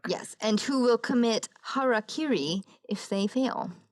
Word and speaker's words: harakiri: and who will commit harakiri if they fail I always thought it was Harry Carey but I looked it up it is not it's a mispronunciation basically